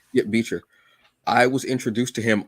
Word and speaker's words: Bichir: Let me make sure I'm pronouncing his name properly. Damien Beecher. Yeah, Beecher.